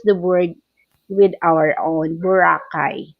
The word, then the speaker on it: Boracay: That's the way we pronounce. But you as an American, you as a foreigner, you pronounce Boracay like Boracay. Yes. But I want to use it Boracay because that is our Boracay.